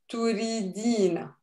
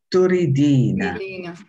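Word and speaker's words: تريدين: Anti turidina. Okay, repeat. Anti? Anti turidina. Turidina. You can also say turidin. The fatha at the end, you don't have to pronounce it.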